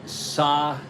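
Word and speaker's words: Sadecki: You say the correct way is Sadakis, even though, oh, an episode of the Brady Bunch. Well, Lord, that's not much of a career. He has S-U, but it's pronounced Sa.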